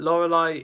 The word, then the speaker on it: Lorelei: 18th place, we have Lorelei, the first Elite Four member that most people were gone against. Not my first, the first one I went against was Aaron. But Lorelei is the proper original, one of the original